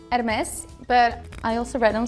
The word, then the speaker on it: Hermes: So his name is Hermes.